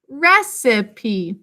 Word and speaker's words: recipe: after it second syllable now our third syllable recipe has unusually and e sang its name in an open syllable that almost never happens at the end of a word but this is a french word and it has a different spelling pattern than we would have